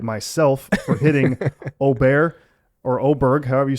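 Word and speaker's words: Åberg: full swing on Netflix he said it's oberg have you been saying oberg cuz I haven't I swear he says ludig oberg oberg are you sure and I've been saying a bear he says oberg that's how he pronounces his name well then there it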